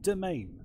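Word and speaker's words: demesne: much the word is domain, which is spelled stupidly. D-E-E, I can never spell it myself, D-E-M-E-S-N-E, domain, yeah, makes sense.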